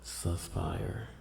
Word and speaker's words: Suspyre: They're called Suspire. This is how you spell it.